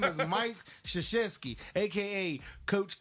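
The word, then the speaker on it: Krzyzewski: Games first off his his last name is not spelled how it's pronounced his name is Mike shashesky AKA Coach K yeah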